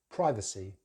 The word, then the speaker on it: privacy: So in British English, we use a short vowel sound, I, for privacy. Just a schwa, C, privacy. Privacy, with stress on that first syllable. Americans, they use a slightly different sound at the beginning. They use the I diphthong, the I diphthong. So they say privacy, privacy. But in British English, privacy.